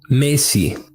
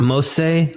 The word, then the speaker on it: Mesi: The root verb in their names would have been pronounced as Mesi, not Mose, let alone Moshe, but there would be